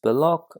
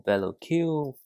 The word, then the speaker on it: Belloc: And the last minifigure is Belloc or Bello Q, whichever you prefer to pronounce.